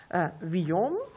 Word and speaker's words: Vuillaume: Berking, Herr Eisenbeiß und Herr Villon. Richtig ausgesprochen?